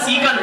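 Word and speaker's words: Seikan: ए एन सी का तो इसको सी का नहीं बोलेंगे साइकिल नहीं है सिकन है वास्तविक नाम सिकन रेलवे सुरंग और कैसी है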